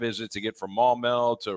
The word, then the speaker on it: Maumelle: Let's talk football with Kendall Donnerson, Redhawks linebacker out of, now make sure I pronounce it right, Maumelle, Arkansas, right? Yes, sir. Maumelle.